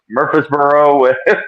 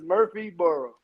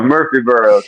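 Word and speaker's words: Murfreesboro: Tennessee uh I I can't say it correctly probably M Mur murbo is that that's there we go Eddie Murphy is Murphy burrow oh there we go Murphy burrow so uh apparently I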